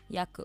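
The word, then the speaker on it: Jakub: yakob j a k u b ah it's pronounced yakob though yakob ah what what's this nationality this first yeah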